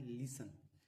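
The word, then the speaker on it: listen: ई एन और टी सी एच में T silent होता है। है ना? जैसे कि देखिए क्या लिखा है? लिसन क्या लिखा है?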